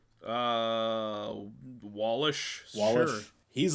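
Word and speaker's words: Wallach: W How do you pronounce that last name? Uh, Wallish.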